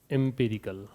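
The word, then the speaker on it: empirical: एम्पेरिकल पहली चीज, तो एक बार देखिए, यहाँ आपका पहला शब्द है एम्पिरिकल, इसका प्रोनाउंसिएशन होता है एम्पिरिकल।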